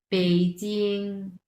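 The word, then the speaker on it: 北京: বেইজিং, বেইজিং এটা ব উচ্চারণ না, এটা হবে প, বেইজিং।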